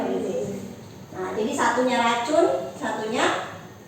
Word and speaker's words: oryzae: Sedangkan kalau di tempe ini adalah Rhizopus oryzae tulisannya. Bacanya oryzae.